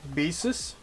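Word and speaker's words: Baseus: series here is actually the magnetic karma by basis that's how it's pronounced and so G report of course there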